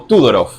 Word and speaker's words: Todorov: problema del otro de todorov sí o tudor un búlgaro que se nacionalizó francés Así que quizás la la pronunciación que usemos no sea la correcta pero buenoos todorov es la más difundida acá por estos pagos Eh bueno todorov nació